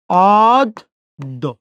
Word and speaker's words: অদ্য: যদি দর সাথে জফলা, দর উচ্চারণ কয়বার? 2 বার। অদ্য।